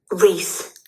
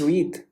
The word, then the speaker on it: wreath: Re. Okay. It's not It's Reed. Reunation. Okay. Pronunciation. Read. Okay. It's a readath. It's wreath. Wreath. Wreath. Okay. Wreath. It's a flower.